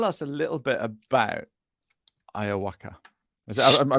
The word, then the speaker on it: iwoca: Tell us a little bit about Iwoca. Am I pronouncing that right? Iwoca, yes.